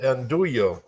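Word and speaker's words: Andullo: right so what this is this is called anduo tobacco oh it's spelled a n d u l l o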